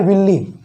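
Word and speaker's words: villi: वो कैसे एब्जॉर्ब करता है, तो विलाई के कारण इसे एब्जॉर्ब करता है। इसे विलाई पढ़ लो या फिर विल्ली पढ़ते हैं, इसका असली प्रोनाउंसिएशन क्या है, विल्ली।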